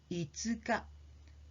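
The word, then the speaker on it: いつか: careful about the fifth the fifth of the month is itzuka the sound goes up if you pronounce it the other way around itsuka means sometime an indefinite time so let's them let's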